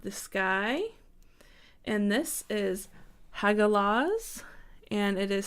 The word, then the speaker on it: Hagalaz: So the next from that, we have the sky, and this is Hagalaz, and it is spelled H-A-G-A-L-A-Z.